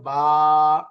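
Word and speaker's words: باء: আলিফ আলিফ আলিফ এরপরের অক্ষরটা হল বা একটু টান হবে বা বা এরপরে তা শেষ অক্ষরটা হচ্ছে এখানে আমরা উচ্চারণ পড়ার সময় বিস্তারিত পড়বো।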